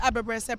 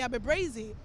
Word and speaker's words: Abebrese: I was like, and when it comes to Abebrese, pronouncing it was a whole different thing. So now a lot of people used to call me Abebreze, and for the longest